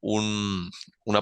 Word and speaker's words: un: va a haber solo una palabra y en singular vamos a conocerlo. Un en español, en francés se escribe igual, pero se pronuncia un, un, bien, muy parecido a la A nasal, un.